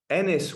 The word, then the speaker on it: Enys: did I get the title right did I pronounce it correctly um it's Ennis was spot on ah the second word is